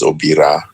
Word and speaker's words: Obita: So the T gets replaced by an R. And so if you had any Luo call me, it would come out as Obira. Mm-hmm. But it's actually a T. It's pronounced with an R, but it's a T.